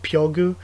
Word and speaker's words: FUG: think, in Korean, because FUG is pronounced like Pyogu in the actual Korean characters. So like Fug is Pyogu.